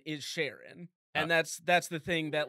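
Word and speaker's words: Charon: It's Sharon, apparently. It's not that. That's incorrect. Whatever it is.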